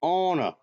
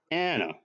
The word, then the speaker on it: Anna: keep mispronouncing these names it's Ona not Anna ah all right that